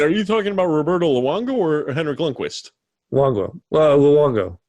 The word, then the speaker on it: Luongo: Luongo.